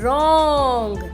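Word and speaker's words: wrong: push 20 right ओर रॉन्ग डब्ल्यू आर ओ एन जी रोग मिट यहां पर डब्लू जो है इस साइलेंट ओ किंग डब्लू अपनी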